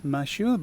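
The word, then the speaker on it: マシュー: In Japanese it's pronounced as Mashu, but not to be confused with the Mashu from FGO.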